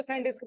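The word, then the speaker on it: SanDisk: अरे सैंडिस्क लिखा जाता है लेकिन पढ़ा जाता है, लेकिन इसका नाम है स्कैनडिस्क। स्कैनडिस्क, स्कैनडिस्क कारपोरेशन है, कारपोरेशन। इसमें क्या होता है, सी साइलेंट होता है, ठीक है, इसलिए सैंडिस्क पढ़ा जाता है।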